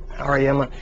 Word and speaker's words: Auriemma: How do you pronounce it? Auriemma.